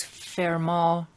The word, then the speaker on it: Fermat: moz theorem of course fairmont pronounced uh in french but written f-e-r-m-a-t and this gentleman was